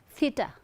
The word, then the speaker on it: theta: See, your upper incisors and your tongue, and then you need to blow air through the space. Think, think, theta.